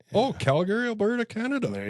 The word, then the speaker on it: Calgary: But yeah, and it's Calgary. You actually pronounce it Calgary. Yeah. Not Calgary.